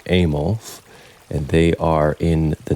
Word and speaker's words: AMOLF: Mood Swings in Bacteria, put out by AMOLF, which I'm pronouncing Amos, and they are in the Netherlands.